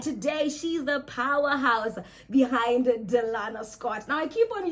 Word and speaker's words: Delayna: It is because majority of the public know me as Delena, but my name is actually pronounced as Delana. So I just accept Delane as well because I can't keep correcting everybody.